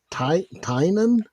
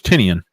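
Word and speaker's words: Tynion: By James, I can't pronounce his last name, Tynan? I thought, is that not right? I thought it was Tinian.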